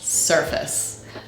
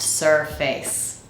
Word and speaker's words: surface: word is not pronounced surface sir is the strong syllable so in Consequence the second syllable the weak syllable needs to be reduced to allow the strong